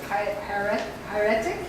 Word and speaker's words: hieratic: And the language from hieroglyphic to hieratic, is that how you say it?